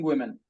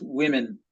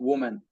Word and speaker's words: women: Yes, among under 5 children and yes, and pregnant and lactating women. Yes, women. I usually face a problem to pronounce women, not woman. Women.